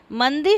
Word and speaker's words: मंदी: जैसे मंदी शब्द में दी पर और तिरस्कार में कार पर बलाघात हैं।